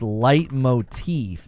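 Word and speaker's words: leitmotif: Light motif. Okay, so it's pronounced light motif.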